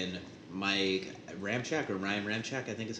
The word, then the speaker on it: Ramczyk: with Teron Armstead and Mike Ramczyk, or Ryan Ramczyk, I think is how you say his name. Ramczyk.